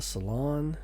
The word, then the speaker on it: saloon: to this as the saloon other people refer to it as the salon it's spelled with two o so I believe it's pronounced Saloon it has two setti's